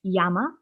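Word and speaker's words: 山: for example this single kanji has three different pronunciations when this kanji is by itself it's yama which simply means mountain but when you add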